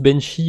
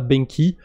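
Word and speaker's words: BENQI: sur la blockchain avalanche il me semble que ça se prononce benchi et pas benky peu importe de toute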